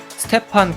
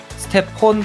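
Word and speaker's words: Stephen: 그 슬라이드에서 커리 이름을 스테판 커리로 쓴게 아니라 스테폰 커리라이스 stepp이라고 계속 발음해서 자신들이 뭘 실수하는 모르고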